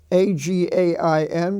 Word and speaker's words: again: And in the Cain, rain family, we have A-G-A-I-N, which is pronounced again, and A-G-A-I-N-S-T, which is against.